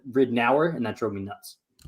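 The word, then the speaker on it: Ridnour: should just be i in my head it should have just been ridnor and they always said rid an hour and that drove me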